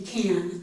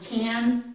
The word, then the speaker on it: can: this, that vowel sound is reduced to or ih. So the full sound would be can. I can hear you, but we don't say that. We say, I can hear you, that would be this, or I can hear you, that would be this. These two sounds are very close. Don't worry about that. Some speakers make it more like the schwa, some make it more like the ih.